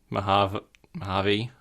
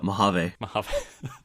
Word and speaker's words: Mojave: of audio after talking about how good the mahav harvey beta is can you just pronounce that for me oh mojave how do you remember that uh i mean